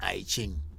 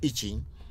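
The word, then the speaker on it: I Ching: something they call itching a lot of people in the west are calling itching but the real pronunciation is itching what do you what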